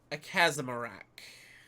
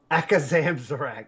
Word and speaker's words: Akazamzarak: So, all right, we have Silas Darkmoon, Syndragosa, Edwin Van Cleef, or the Great Akazamarak. Akazamzarak. Oh my god. Whatever. You butchered that.